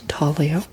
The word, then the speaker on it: intaglio: next category is called intaglio, and it's spelled like intaglio because it's Italian, and I don't know what's going on over there, but it's pronounced intaglio.